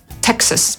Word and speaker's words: Texas: tylko że przez „x”, ale po angielsku tego „a” nie wymawiamy, tylko skracamy je do /ə/ – Texas /ˈteksəs/.